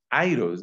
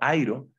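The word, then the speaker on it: αἴρω: nos hemos encontrado antes el verbo aeros lo debo pronunciar mejor el verbo Jairo que es el el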